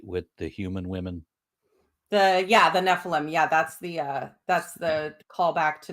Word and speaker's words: Nephilim: Nephilim.